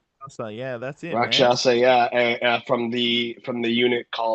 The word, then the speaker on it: Rakshasa: He is otherwise known as uh is it pronounced Rakshasa? Yeah, that's it. Rockshasa.